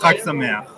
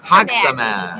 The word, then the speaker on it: Chag Sameach: Chag Sameach. Katsamer. Chag. Chag Sameach. Hag Samer.